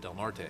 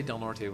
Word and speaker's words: Del Norte: Um and and Governor Brown is pronouncing it correctly too is Delnor instead of Del Norte.